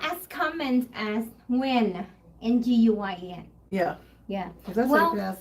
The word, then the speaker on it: Nguyen: Nguyen. Yeah. Yeah. Well, that's how you pronounce that.